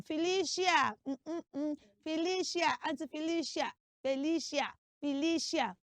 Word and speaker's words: Felicia: know but you see that name is not pronounced Felicia now let's break it down the first cele is f say f f good the second C is l l good and then the last syllable which is c i a does not have any sheer in it the C is not making the sound sh the letter C in that name makes the sound s like your circle